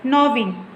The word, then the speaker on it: gnawing: See here, while pronouncing, you should not speak split G. You should just say gnawing.